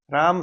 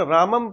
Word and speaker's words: राम: अंग्रेजी में ट्रांसलेशन बोलते राम शब्द है उसका उच्चारण रामम तो यह संस्कृत का शब्द है ध्वनि सबसे महत्वपूर्ण है यार गायत्री मंत्र बोलते हैं एक तो बोल दो ओम भोर हुआ उसका कोई अर्थ नहीं है एक आप उसको जो उचित ध्वनि उसके लिए अपनी उसमें उसका प्रभाव एक अलग ही होएगा राम को रामा लिखते हैं योग बोलो आप योग